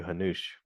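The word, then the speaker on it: Hanuš: And he's like, I'd like to name you Hanush. Now, Hanush is spelled Hanus, and it's got a little asterisk thing above the S.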